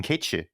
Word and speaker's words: Cait Sith: So that's kind of a shout out to his original pronunciation as Keitshi, the Gaelic pronunciation. So they decided to just make him a Scot, So they butchered the pronunciation, and so that's why he's just called Cait Sith now.